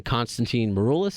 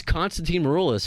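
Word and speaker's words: Constantine Maroulis: some reason, someone else had their eye on Konstantin Maroulis. Is that how you say his name? Mm-hmm. I should know how to pronounce his name because he's going to be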